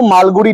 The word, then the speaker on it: মালগুড়ি: উচ্চারণটা কি? মালগুড়ি। যেমন বলেছিলাম বিড়ি উচ্চারণ বি আই ডি আই বানানটা বি আই ডিআইরকম।